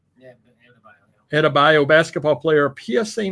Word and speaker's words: Adebayo: Adebayo? Yeah, Adebayo basketball player, PSA 9 sample.